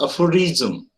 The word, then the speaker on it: aphorism: Now pay attention towards the pronunciation of the words as well. It's aphorism.